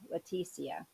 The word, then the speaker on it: Letitia: tiacia um finally figured out her the correct pronunciation of her name and uh wow leticia okay got it um many of you may